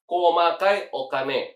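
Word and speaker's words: 細かいお金: Jadi kalau komakai okane itu adalah recehan. Jadi kalian tuh bukan bawa uang 1000 yen, 5.000 yen icimang bukan. Tapi ada recehannya juga. itu bacanya adalah komakai okane atau misalkan ketika kalian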